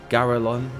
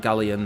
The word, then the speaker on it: Geralon: Is that how I say his name? Geralon. Geralon. Geralon. Not Gallion. That's the mount. Not the son of Gallion.